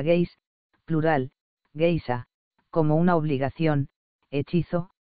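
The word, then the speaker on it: geis: irlandés de dineen explica el vocablo gays se pronuncia gays plural como una obligación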